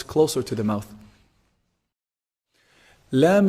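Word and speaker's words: ل: Lam is actually pronounced from the tip of the tongue when it hits the gum or the gums of the upper incisors. La. Lam, lam, la, la. Make sure there's no ghunna in your lam. There's some common mistake where people do produce ghunna with the lam.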